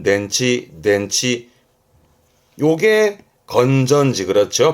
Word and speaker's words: 電池: 발음은 낸치 덴치 요게 건전지 그렇죠 발음은 칸치 칸치 혼자 두면 뜻은 연못이 되겠네요.